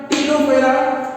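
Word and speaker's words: Ctenophora: अच्छा, non coordinate group को बेटा कितने ग्रुप में बांटा गया है, पॉलीफेरा, सिलेंट्रेटा, टीनोफेरा, टीनोफोरा, बेटा यहाँ पर सिलेंट्रेटा है, टीनोफोरा सी साइलेंट है यहाँ पे, ओके।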